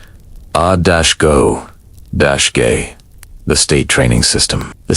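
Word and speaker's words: agoge: This is the moment of mandatory enrollment into the Aggie pronounced a-go- the state training system.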